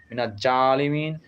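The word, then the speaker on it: مِنَ الظَّالِمِينَ: আনতা সুবহানাকা ইন্নি কুন্তু মিনাজ জালিমিন অর্থাৎ মিনা জালিমিন এভাবে উচ্চারণ করা ভালো আর ইল্লা আনতা অর্থাৎ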